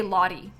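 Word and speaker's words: Lottie: But her name is Lahi. Um, like L O T T I E. And I say Lahi. Lahi. Like sort of like it sounds like I'm saying it with D's. Lahi.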